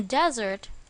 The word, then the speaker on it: desert: can live in a desert as long as I'm with you where is the stress in this word correct on the first syllable desert desert here means a dry